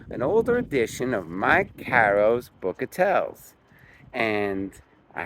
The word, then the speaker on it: Caro: everybody knows that Mike Caro probably got it from his father and his grandfather. He reminds everybody that the way to pronounce his last name is it rhymes with the word arrow.